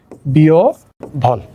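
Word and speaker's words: বিহ্বল: একইভাবে বিহফল, তাহলে কি হবে, বয় রস্যকের পরে রস্যও আসবে, আর হয়বয়ের পরিবর্তে কি আসবে, ভ আসবে, বিয় ভল।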